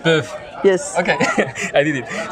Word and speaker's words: PÖFF: Everyone should have to learn to pronounce PÖFF. PÖFF.